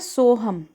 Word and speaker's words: सोहम: जैसे लोगे ना तो अपने आप उच्चारण होता है सोहम सो का और जब जैसे आप सांस बाहर छोड़ते हो ना तो हम का आपको एहसास होगा।